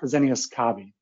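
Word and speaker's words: Fresenius Kabi: So it's pronounced Fresenius-Kabi.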